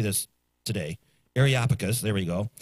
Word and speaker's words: Areopagus: Areopagus, there we go.